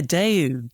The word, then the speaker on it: Daewoo: Daewoo, I think you pronounce their name. They did their own console, didn't they? The Zemix console. That's right, yeah, Daewoo.